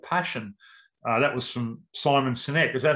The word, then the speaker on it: Simon Sinek: life is called passion uh that was from simon sinek is that how you say it great cynic